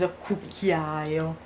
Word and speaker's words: cucchiaio: So cucchiaio, let's do that story of the strange syllables that only one vowel. Cu, chi, only one vowel. A, I, O. Only one vowel for square. Cu, chi, A, I, O. Cucchiaio.